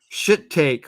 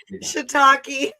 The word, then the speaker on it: shiitake: There's shit take wedge salad with cannabis blue cheese dressing. Say that again. What is that? Shit take. How do you pronounce it? Shiitake.